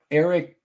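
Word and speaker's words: Erik: the thing, even if Eric, it's with a K, so you have to say it like that.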